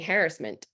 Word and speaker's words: harassment: Growing up, that's all I ever heard. But when I got like probably in maybe by my 30s, I heard people saying harassment. And I think that might be more, people can say in the chat, that might be more of a British pronunciation. I'm not sure. But I thought, well, that's interesting. All of a sudden we're shifting the stress pattern.